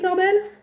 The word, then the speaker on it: Corbel: sais pas si elle Cécile Corbel comme ça se prononce c'est au R B e l et non je